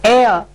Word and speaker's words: heir: So heir, the word starts with H, but the sound or the pronunciation that comes first is A, which is a vowel sound.